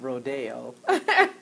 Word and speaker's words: Rodeo: name of rodeo um it's spelled much like the one over in Beverly Hills but they call that Rodeo right in the hood is Rodeo Boulevard so evidently Rodeo Boulevard